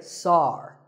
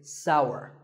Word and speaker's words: sour: Some people say sar. That is a mispronunciation. The only correct way to say this word is sour.